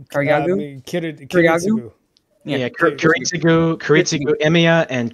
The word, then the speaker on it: Kiritsugu: forth between Kotamine and sorry, how do you pronounce his name? Karyagu? Karyagu? Kiritsugu.